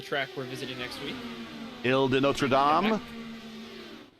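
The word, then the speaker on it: Île Notre-Dame: your French Gary that was a pretty good pronunciation of the track we're visiting next week ill de notam correct not too bad it's the island of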